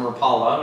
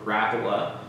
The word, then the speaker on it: Rapala: Now, these are 6-inch mag spring pliers from Rapala, or Rapala. However you like to pronounce it.